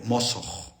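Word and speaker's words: mosoq: Mosj, así se pronuncia, mosj con esa vibración.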